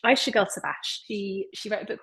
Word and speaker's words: Ayşegül Savaş: I need to make sure I pronounce her name right. Ayşegül Savaş. Ayşegül Savaş.